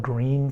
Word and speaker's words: Gruene: New Bron Falls is an old town called Green Texas yes it's spelled g r u n e so this area of